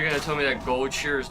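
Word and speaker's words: Goldshire: I I still cannot believe that it's pronounced gold shear instead of gold shire.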